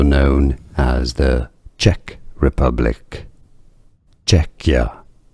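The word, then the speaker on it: Czechia: Czecha stress on the first syllable Czecha.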